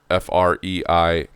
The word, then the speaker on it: Freikorps: And this included in particular a group called the Freikorps, F-R-E-I-K-O-R-P-S, Freikorps is how it's said.